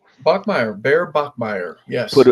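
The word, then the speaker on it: Bachmeier: The first name Bear and his last name Bachmire, I believe. Bachmeire.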